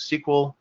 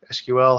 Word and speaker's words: SQL: basic structured query language also known as sequel SQL however you want to pronounce that and there's open api's